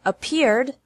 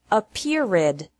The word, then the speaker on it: appeared: has two syllables and appeared also has two syllables don't pronounce it a perid with three this is